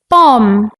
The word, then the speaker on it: bomb: teachers in the class silent letters are letters that are written but not pronounced like the letter B in bomb Klim lamb some like